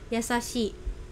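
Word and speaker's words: やさしい: Ini shi-nya panjang ya karena ada i-nya gitu, yasashi.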